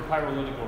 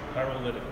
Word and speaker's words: PYROLITICAL: Like pyro and political together. Okay. Hey, it's 5 syllables like representative.